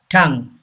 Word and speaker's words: tongue: Number 6. Tongue. This N is silent. Tongue. Say this word, tongue.